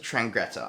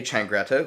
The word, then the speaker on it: Changretta: tommy's younger brother insults vincent trangreta i have to google how to say his name john insults vicente changretta whose son angel then